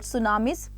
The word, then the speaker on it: tsunami: They are called tsunamis, pronounced as tsunami.